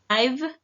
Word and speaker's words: I've: It says, I've cleaned the refrigerator. It looks new. La pronunciación, chequen aquí la I o la I se junta con el sonido de la B. Por eso decimos I've.